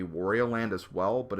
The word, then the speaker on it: Wario Land: full game correctly but the way this game is pronounced is Warrior land Super Mario Land 3